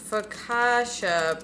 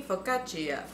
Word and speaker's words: focaccia: Focaccia pronunciation.